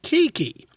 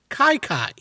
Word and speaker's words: Kiki: those of you listening his name is spelled k-i-k-i as in kiki but it's not pronounced kiki rather it's pronounced kai kai how did he get